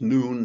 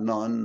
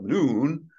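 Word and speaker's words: Nun: of noon I understanding as it's pronounced noon not none not known but noon the servant of the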